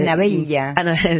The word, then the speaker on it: Anabella: Es Anabella.